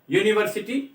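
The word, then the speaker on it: university: But pronunciation की जब हम बात करते हैं यूनिवर्सिटी प्रोफेसर जो बोला गया, तो आपको केवल यहां यूनिवर्सिटी के ऊपर ध्यान देना है। इसकी जो साउंड है वो कॉन्सोनेंट साउंड है।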